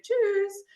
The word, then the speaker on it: Tschüss: Und es ist sehr wichtig, dass es „Tschüss“ ist – das ist das eine Wort, bei dem die Betonung im Deutschen wichtig ist.